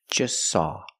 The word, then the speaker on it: just saw: just want to eat or just saw we see the t is between consonants so don't pronounce it it's silent just saw you link the S with the S link them together just saw just saw they just saw a